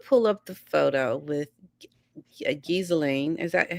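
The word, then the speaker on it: Ghislaine: up the photo with Gizelain. Is that how you say her name? Gain. Galain. Galain. Like Elaine, but with a G. Galain.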